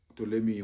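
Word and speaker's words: Ptolemy: So he had one great general called Tommy. Tommy is written with a PT but the P is silent. And uh after the death of Alexander Tolei was ruling for quite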